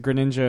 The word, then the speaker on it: Greninja: know or great ninja whatever I mean they pronounce it greninja and Josh Brothers well yes I've always gone